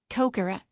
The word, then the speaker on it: Kokoro: It also can't pronounce its own name. Kokoro.